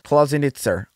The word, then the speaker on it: Klausenitzer: I'm going to have so much trouble pronouncing this. Klausenitzer. I think that's how you pronounce it.